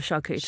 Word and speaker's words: charcuterie: Charcuterie, which is often said with a hard C instead of charcuterie.